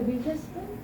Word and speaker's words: Wittgenstein: ¿Cómo se pronuncia? Wittgenstein.